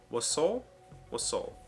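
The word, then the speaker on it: wassail: word you should know sounds smart is wasel waso waso that's what it says in pronunciation guide It's a noun meaning a salute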